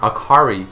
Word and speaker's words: Akali: other games and enemies akali is pronounced Akari in Japanese meaning light bright cheerful